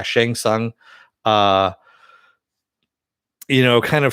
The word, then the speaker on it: Shang Tsung: is you have uh shentong uh did i say his name right i always mispronounce it yeah shang tsung uh you know kind